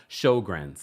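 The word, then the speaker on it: Sjögren's: know I was struggling she says it's pronounced showr thank you shrs I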